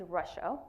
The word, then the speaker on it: Racha: So my name is Racha, pronounced like the country, Russia, just to make it easy for everyone to remember.